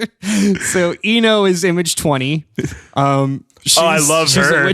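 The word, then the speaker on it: I-No: One is we're introduced to Eno, which is spelled capital I hyphen capital N O.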